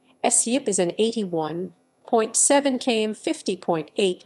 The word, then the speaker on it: Suippe: suep the suet french pronunciation essiup is an 81.7 km 50.8 my long river